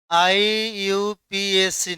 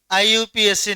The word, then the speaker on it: IUPAC: इसका शुद्ध उच्चारण होता है, ये तीन वर्डों में बांटा गया आपको वर्ड है। देखिए, इसमें आई अलग है, यू अलग है, और ये पैक अलग है।